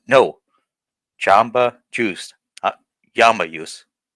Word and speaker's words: Jamba: it's Jamba Juice, not Yamba Juice.